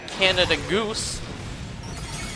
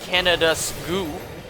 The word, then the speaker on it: Canada Goose: And, you know, not my winter jackets, not my Canada Goose. Or how my mom says it, Canada Skoo. She puts the S on the wrong place.